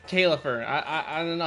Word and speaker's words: Caelifer: It's not Calver, it's Caifer.